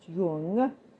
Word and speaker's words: Jung: You realize that Freud had a disciple, Carl Jung, spelled Jung, so it could be pronounced Jung, but in German it would be pronounced Jung.